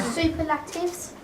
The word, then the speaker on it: superlatives: Superlatives? Almost. Superlatives? Not bad. Superlatives? No. Superlatives? I know. Superlatives. These are good guesses. Similarities? No. It's a fun suggestion. We stress the second syllable, so it's superlatives.